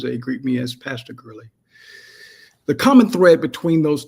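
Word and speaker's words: Girley: your time um my name is is Gurley um g i r l e y if you want to spell that out if you want to look me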